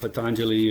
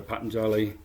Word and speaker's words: Patanjali: are the words of patanjali or patanjali pronounced a couple of different ways he goes and then